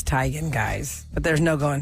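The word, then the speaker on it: Teigen: my name is Chrissy Tegan to the world now that I'm well known but that's not actually how you say my name and her mom is like yeah it's tigan guys but there's no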